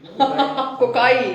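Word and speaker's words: cocci: कोची कोची कोकाई कोकाई, बेसिली बेसिलाई।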